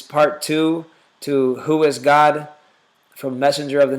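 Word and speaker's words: Gad: the word g a d that word is pronounced in Hebrew init as God and that can be proven with just about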